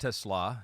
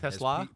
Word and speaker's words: TeSlaa: My expectations are pretty high, and it is pronounced TeSlaa. TeSlaa. Pete notes here. It's like I'm the first person. I mean, I've heard. I have to get that right as a Lions fan. Not TeSlaa, although it looks kind of like Tesla.